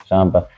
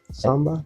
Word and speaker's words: samba: Shamba. I uh I've I've uh What is it called? Samba.